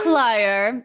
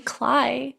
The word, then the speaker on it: Clio: It's Clio. Thank you very much. There is no other way to pronounce it. You can call me Cly if you want if that's easier.